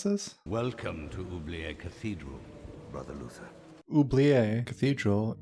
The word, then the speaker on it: Oublié: The how do you even pronounce this? Welcome to Oubliette Cathedral, Brother Luther.